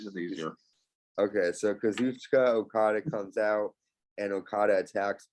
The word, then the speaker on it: Kazuchika Okada: Some people also pronounce it Kazuchika, but I say Kazuchika Okada. Kazucha. Wait, how is it again? Kazucha Okada.